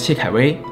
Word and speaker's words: Xie Kaiwei: My Chinese name is Xie Kaiwei. Apparently, the pronunciation is similar to my English name.